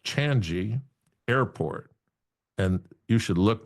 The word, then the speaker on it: Changi: I guess it's pronounced Changi Airport.